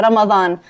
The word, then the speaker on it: Ramadan: Yeah, Ramadan. It's the D. You can say it like a TH, like a the. Ramadan. Ramadan. Oh, it's like a marathon, but a Ramadan.